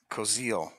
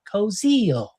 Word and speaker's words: Koziel: Koziel. You know why I said it like that? Because when I played the pronunciation 500 times, that little British lady said Koziel.